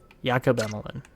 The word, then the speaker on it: Emelin: Same with a guy like Emelin, or Emelin, yeah. Jakob Emelin is how you'd say his name.